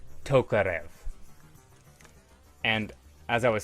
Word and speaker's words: Tokarev: I don't know if there's anything else I needed to say besides this is pronounced Tokarev.